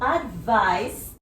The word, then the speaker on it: advice: So, as I said, it is a noun, and this C here sounds like an S when it is pronounced.